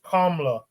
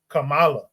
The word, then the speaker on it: Kamala: to to state that her name is KLA not Kamala but Man based on